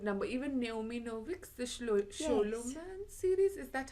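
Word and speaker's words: Scholomance: Even Naomi Novik's The Sholoman series, is that how you say it?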